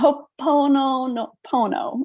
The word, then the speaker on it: Ho'oponopono: Ho'oponopono. I just butchered it.